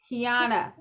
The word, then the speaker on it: Keyona: butcher my name so i should do better kiana yes mia we are here okay so we